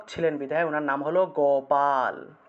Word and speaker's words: গোপাল: উনার নাম হলো গোপাল তাহলে গ উচ্চারণ করব গ আমরা তো গোপাল বলে ফেলি আমরা তো গ এর রসুকার লাগিয়ে দেই গ এর রসুকার লাগালে হবে না গোপাল বললে হবে না উচ্চারণ করতে হবে গোপাল বা গোপাল সংস্কৃতে উচ্চারণ করলে গোপাল আর বাংলায় তো আমরা